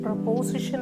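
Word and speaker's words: preposition: നമ്മൾ സ്ട്രെസ്സ് ചെയ്യേണ്ടത് ഒന്ന് രണ്ട് മൂന്ന് നാല് ഫോർ സിലബിൾസ് ഉണ്ട് ഇതിലെ പ്രപസിഷൻ പ്രപസിഷൻ പ്രൊപോസിഷൻ അല്ല പ്രപസിഷൻ പ്രപസിഷൻ മലയാളത്തിൽ എഴുതിയിട്ടുണ്ട്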